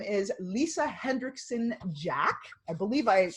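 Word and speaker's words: Lisa Hendrickson-Jack: Her name is Lisa Hendrickson Jack. I believe I pronounced that correctly.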